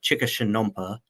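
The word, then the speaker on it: Chikashshanompa': and was actually teaching a program on how to speak Chickashanumpa, I believe is the correct way to pronounce their language.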